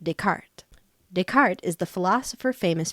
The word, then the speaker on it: Descartes: Probably from Rene Descartes, 1596 to 1650, pronounced Descartes.